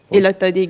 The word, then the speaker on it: Elotodé: Le nom, Elotodé Galerie. Elotodé Galerie. Elotodé s'écrit E-L-O-T-O-D-E.